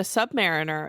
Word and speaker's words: Submariner: The Human Torch in 1939, and Namor, the Submariner, in 1939 as well. I always pronounce it Submariner, and I'm 90% sure it's pronounced Submariner.